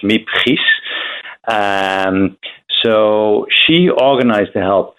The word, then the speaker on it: Miep Gies: secretary, her name is, and I will pronounce it in Dutch, Miep Gies.